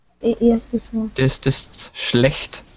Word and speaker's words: schlecht: It's pronounced schlecht. Schlecht. Schlecht. Yeah, it's really hard. It's this sh. This sh you pronounce like to be quiet. So sh. Sh. And this is ch. It's so like a kitty do.